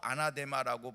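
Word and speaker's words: ἀνάθεμα: 여기서의 저주는요, 원어로 아나데마라고 발음을 합니다.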